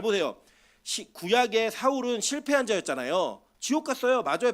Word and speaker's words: 사울: 히브리식 발음은 사울, 헬라식 발음은 바울이에요. 똑같은 이름인데 그 구약이 실패했던 바울을 사울을 하나님께서 어떻게 구원하시는가를 보여주는 사건으로이 두 인물을 대비시키는 거예요.